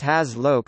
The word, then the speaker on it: HazLoc: electrical engineering, hazardous locations, sometimes abbreviated to HAZLOC, pronounced HAZLOC, are defined as places where fire or explosion